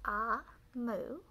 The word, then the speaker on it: Omu: note to the reader amu pronounced ah moo is the igbo term for queen and there's some more